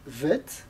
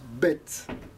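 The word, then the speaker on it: ב: par exemple lettres bête si elle n'a pas de point elle se prononce vet et si elle a un point de dents elle se prononce bête et il ya cette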